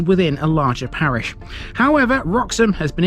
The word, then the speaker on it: Roxholm: However, Roxom has been its own parish for a long time. Alternatively spelled and pronounced as Rox Ham, this was mentioned in the Doomsday Book.